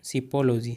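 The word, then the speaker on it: psephology: उसे बोलते हैं शिपोलॉजी। दोस्तों पी साइलेंट रहेगा यहाँ, शिपोलॉजी।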